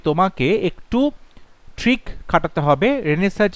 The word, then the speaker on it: Renaissance: তুমি যদি বানানটা সঠিক করতে চাও তাহলে RENAISSANC, রেনেসান্স মানে নবজাগরণ। তাই অপশন বি হবে রাইট আনসার। উচ্চারণটা হচ্ছে রেনেসাঁ, কিন্তু বানানের ক্ষেত্রে রেনেসান্স এরকমভাবে মনে রাখবে, তাহলে ইজি হবে বানানটা করতে।